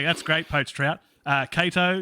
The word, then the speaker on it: Cato: great poached trout uh cato yeah yeah with a k sound um yeah this is